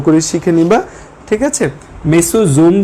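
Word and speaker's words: Mesosome: আচ্ছা, মেসোসোম আর মেসোজোম নামের মধ্যে কোনো পার্থক্য নেই, সেম কথাই।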